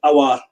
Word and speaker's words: Aouar: I haven't really seen much of Aouar. Finally, I pronounced it properly.